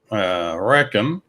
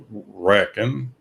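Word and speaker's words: Rekon: On a completely different subject, Recon, even though everybody calls them Recon, but Dave C. found a Recon, pronounces it Recon, so we'll go with Recon.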